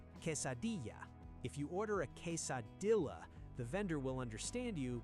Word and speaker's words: quesadilla: Most English speakers say "case-a-dilla." This is wrong. The double L in Mexican Spanish is never a hard L sound. It sounds like a Y. Say "quesadilla."